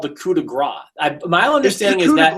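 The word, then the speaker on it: coup de grâce: I believe it should be called the coup de grace. My understanding is that S. Yeah, but everyone, like, I know you're saying because the announcers say Gross, but that S is silent.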